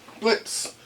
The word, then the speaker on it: Blitzø: the soap little Mis Blitz the O is silent which is probably what